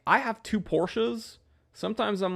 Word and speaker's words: Porsche: you know abbreviation so like I have two Porsches sometimes I'm like yo hop in the Porsche